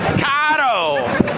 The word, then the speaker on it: caro: That's the proper way to say it in Spanish. Caro. It sounds like car-o. It does, but it's not caro. Because Spanish for car is auto. Carro tiene doble R.